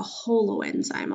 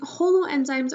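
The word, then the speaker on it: holoenzyme: o L Holo enzyme I kind of think of it as like whole enzyme but it's spelled different but still Holo enzyme a Holo enzyme is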